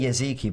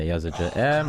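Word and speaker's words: Yazıcı: We need now I'm gonna say Yaziki, but it's not pronounced like that. It's Yazika. Yazaja. Yeah, Yazaja. I like Yazaja, but again, I don't think he's.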